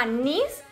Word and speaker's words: NYZ: anís moda tienda online se llama anís n y z no con ese como yo lo pronunció de mal y bueno después la